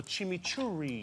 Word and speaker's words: chimichurri: And I made something called a chimichurri. What is that? What is that? Chimichurri. Usually you roll your R's with it.